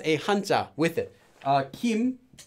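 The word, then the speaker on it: 김: hunt up with it Kim this is actually the hunt supper team but it's originally come for gold but when it's used for a person's name it's read as Kim um every single person's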